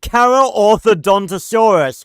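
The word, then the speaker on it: Carcharodontosaurus: Two carodonttosaur dinosaurs among the new roster have also received major updates starting with the car curodinosaurus. No, you're both wrong. It's pronounced carthodonttosaurus. I love being part of this community.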